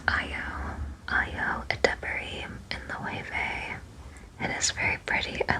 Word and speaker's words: Loewe: I looked it up when I was editing the last one, which I was pronouncing as low, but it's Loewe.